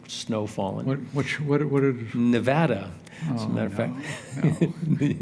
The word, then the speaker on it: Nevada: we're mispronouncing it when we use the Spanish pronunciation and say Nevada or snowfalling what what what what Nevada as a matter of fact you say no to that well don't go to Nevada because they will correct you instantly as they